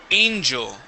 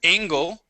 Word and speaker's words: angel: doing excellent okay uh this word is Angel instead of angle angel Ang now this is this is the tricky part because that would be Angel and this word I'm